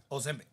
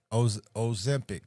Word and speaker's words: Ozempic: Ozempic. Ozempic.